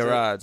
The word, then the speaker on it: Gerads: Gerads, it's a hard G.